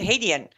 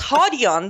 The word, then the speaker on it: Hadian: He has made the ultimate sacrifice to make it Hadian. It's Hadian, the correct pronunciation.